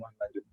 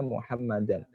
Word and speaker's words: Muhammadan: Muhammadan itu ya, bukan Muhammadun. Muhammadan, karena ada alifnya maka dibacanya Muhammadan.